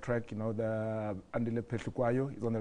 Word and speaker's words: Andile Phehlukwayo: Andile Phehlukwayo.